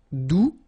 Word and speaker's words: doux: All right, doux, you don't pronounce the final X.